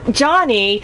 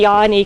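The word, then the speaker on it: Jani: So, and I'm really embarrassed, because I kept calling you Johnny, but it's really Yanni because it's Finnish.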